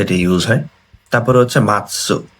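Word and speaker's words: 待つ: তো আমি হচ্ছে এখানে অপেক্ষা করব, মাতসু বা, এটার মিনিং হচ্ছে অপেক্ষা করা।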